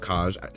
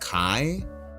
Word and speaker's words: Kaj: I think it's pronounced Kaj. Some say it's pronounced Kai despite there being a J, but I'm pretty sure it's pronounced Kaj.